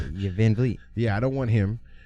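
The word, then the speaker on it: VanVleet: I'm gonna say Van Fleet. Yeah, Van Vliet.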